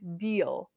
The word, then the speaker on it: deal: the second word is deal deal deal deal and it rhymes with this word meal or feel they all have rhyming